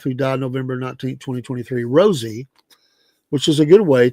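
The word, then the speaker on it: Rosalynn: The former president sometimes called his wife, who died November 19, 2023, Rosie, which is a good way to remember how her name actually is pronounced.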